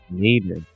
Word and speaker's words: nadir: How do you say that? Nadir. We learn something every day, I guess.